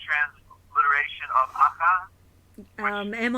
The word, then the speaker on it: Akha: So the word, the original word in the Indo-Germanic was Akha. Akha is the best way to pronounce it.